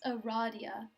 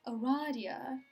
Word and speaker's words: Rydia: oh wait to quote rydia it's pronounced erradia eradia eradia how fancy what i